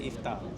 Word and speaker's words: iftar: pour ce soir but in Malay we don't pronounce to two th just say iftar iftar finally after this